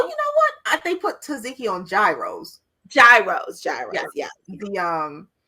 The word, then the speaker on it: tzatziki: The next thing on the list is tzatziki.